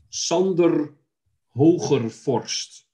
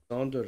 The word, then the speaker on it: Sander Hogerforst: And Sander Hogerforst, which Sander. Is a very common, more or less, Dutch name. So, Sander. So it's a Sander. Sander.